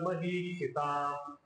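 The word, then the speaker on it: महीक्षिताम्: प्रत्येक अक्षरचा उच्चारण प्रथ सर्वेशाम महीक्षिताम महिष्क्षिताम इकार मोठा आहे शी मधी छोटा आहे प मधी मोठा उवाच पार्थ पश्यता इथं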